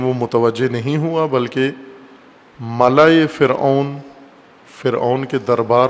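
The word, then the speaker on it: ملأ: ملا کہا جاتا ہے۔ ملا، ملاح نہیں ہے، بعض غلط تلفظ کرتے ہیں۔ ملا، میم لام الف حمزہ، ملا، جیسے خلا ہوتا ہے، خلا، غلط تلفظ خلا کرتے ہیں اردو میں، یا اردو سے ملتی جلتی زبانوں میں خلا نہیں ہوتا، خلا، اور اسی وزن پر ہے ملا۔ خلا اور ملا ایک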